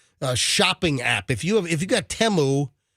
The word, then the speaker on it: Temu: If you got Temu, which that's the way you pronounce it, but people call it Temu, but the commercial says Temu.